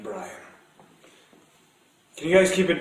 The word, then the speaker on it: Brian: It's pronounced Brian.